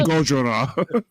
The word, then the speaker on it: Gojira: Gojira.